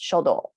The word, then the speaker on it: 書道: the top calligraphy it's written here and it's pronounced shodo flower arrangement is kado tea ceremony is sado